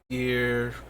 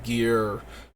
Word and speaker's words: gyre: as intimidating so i prefer the hard g gear for ulamog but it's probably drier